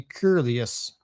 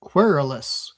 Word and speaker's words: querulous: one gets unsettled, depressed, and inclined to be querulous. Ooh, quer- quer- How do you pronounce that one? I recognize the word query, so it's definitely related to that. querulous querulous querulous One gets unsettled, depressed, and inclined to be querulous.